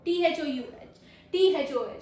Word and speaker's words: though: THOUGH. Sorry, spelling है THOUGH. दो. THOUGH. दो. Say it like दो.